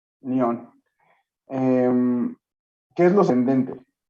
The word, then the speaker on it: Lyon: Así es, digo, es León, pero es en francés, pero se pronuncia Lyon. Lyon.